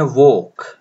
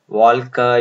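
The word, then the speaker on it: walk: डब्ल्यू ए एल के, इसको pronounce करें राइट, तो ये है वोक, वोक, वॉल्क या वॉल्क, इस तरह से कुछ नहीं, ल प्रोनाउंस नहीं हो रहा है। तो व और क तो आ ही जा रहा है, बाकी बचा ओ, जरा लंबा है, इसको लेके यहाँ पे डालेंगे कोलन, लॉन्ग वॉवल बन जाएगा तो वॉक आ जाएगा।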